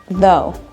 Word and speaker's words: though: Sound number 1, we have the O sound, like though. Repeat after me. Though. The key here is that it sounds like the word go.